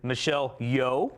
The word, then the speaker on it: Michelle Yeoh: I think the lock is Michelle Yeoh.